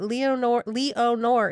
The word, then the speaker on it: Leonore: It looks like it should be Lenore, but Leonore is how, when I Googled pronunciation.